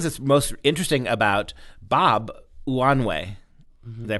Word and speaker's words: Unanue: of the things that's most interesting about Bob wanway way did I pronounce that correct yes right one of the